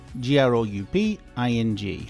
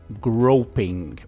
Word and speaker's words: grouping: Grouping, not groping.